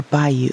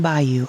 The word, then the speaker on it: baiu: It's called rainy season in English and suyu or bayou in Japanese. Tuyu and bayou are different pronunciations for the same two characters, plum rain.